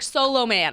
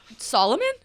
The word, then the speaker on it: Solomon: No, we're eating lunch last week, and she's like, Solo Man. And I'm like, Solomon? Wait, what? Was I taught that O's are pronounced as O's and A's are pronounced as A's?